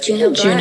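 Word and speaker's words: Juneau Black: Juno Black.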